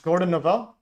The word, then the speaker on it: Gordon Novel: How do you pronounce it, John? Gordon Noville.